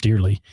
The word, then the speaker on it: Dearle: is it Dearly? Dearle. I think it's pronounced Dearly at 7 p.m.